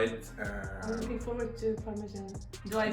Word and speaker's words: parmigiana: I'm looking forward to Parmigiana. Do I pronounce it right? Yeah, Parmigiana. Parmigiana.